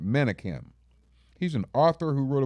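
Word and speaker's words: Menakem: name of resma uh it's spelled monokum but i think he pronounced him manikin he's an author who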